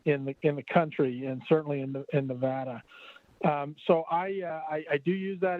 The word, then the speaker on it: Nevada: And I'm so delighted to hear that she has not given up his quest to convince everybody that the correct pronunciation of the state is Nevada.